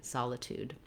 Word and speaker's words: solitude: some secondary stress here we have that clear ooh vowel and an aspirated t solitude when we get to